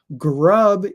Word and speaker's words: grub: Um, and this word has the short U sound, like jump or cut or butt.